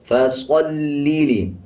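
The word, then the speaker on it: فَصَلِّ: फसल्लि, स्वाद को पुर पढ़ेंगे यानी मोटा पढ़ेंगे।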